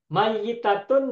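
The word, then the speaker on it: مَيِّتَة: Mayitatun dan maitatun hurufnya sama. Mim, ya, Hmm. ta marbutoh. Ya. Tetapi Yang masih bacanya tasdid, berbeda. masih Kalau tasdid. maitatun, ya-nya sukun. Kalau Hmm. mayitatun, ya-nya tasdid kasroh.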